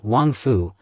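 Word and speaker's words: 王府: In Chinese, the pronunciation of royal mansion is Wangfu, and the pronunciation of well is Jing.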